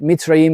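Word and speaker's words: מצרים: Egypt, Mitzrayim is said in Hebrew, which is Mitzrayim, the Lashon is Tsar Tsar, that's how it's said in Hebrew.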